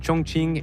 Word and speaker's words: Chongqing: Ah oui, le Q se prononce.